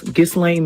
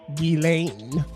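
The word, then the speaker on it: Ghislaine: the Epstein list because Gain Max, she was on a guest list for Gizlane Maxwell's." I think her name's pronounced Gilain, not Gain. Gain like showing of a political film once.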